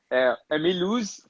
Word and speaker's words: Mulhouse: Só a pronúncia que você errou, que é Mulhouse, o Mulhouse da França, Milhões.